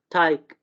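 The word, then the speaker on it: Teig: ये for instance टाक, ये टाग नहीं होगा, टाक, ठीक है, टाइक, सुक, ठीक है।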